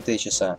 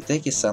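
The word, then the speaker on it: Techies: Ну и топ-1 победитель сегодняшнего рейтинга – связка из Тини и Течиса. Хотя правильно говорить Тайни и Текиса, но кого это волнует?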